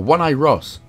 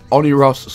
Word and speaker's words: Oneiros: all in honor of or one eye ross you know when i ross hangs out by the bushes all the time anyway it's pronounced honey ross so let's just leave